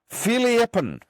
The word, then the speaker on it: Fierljeppen: It is pronounced Fierljeppen.